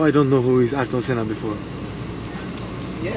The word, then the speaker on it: Ayrton Senna: Ayrton Senna. Ayrton Senna.